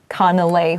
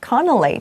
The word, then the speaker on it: Canelé: 这个字啊，它其实是法文字，所以大家就有边读边啦，就随性的念这样子 Canelé 或 Canelé 都可以。